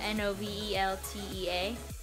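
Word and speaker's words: Noveltea: watching novelty corner but instead of spelled like novelty it's spelled like novel and then the drink tea but put together so Nov de a corner so far I'm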